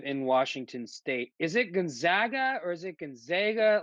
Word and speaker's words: Gonzaga: Is it Gonzaga or is it Gonzaga? Like, how do you pronounce it? Okay, so it's either Gonzaga or Gonzaga. It doesn't really matter. Just don't say Zaga.